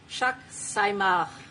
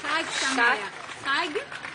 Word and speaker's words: Chag Sameach: Thank you so much again, and Chak Saimach. It could be pronounced better. Chag Sameach. Chag Sameach.